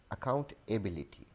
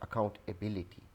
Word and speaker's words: accountability: We pronounce this word as accountability. So this is not accountability.